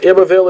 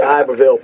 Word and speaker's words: Iberville: way into Iberville Parish, or Iberville as you Baton Rouge folks pronounce it around here. I'm from New Orleans, I say Iberville.